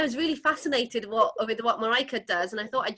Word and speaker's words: Marijke: So we've got the amazing Marijke. Have I pronounced that correctly?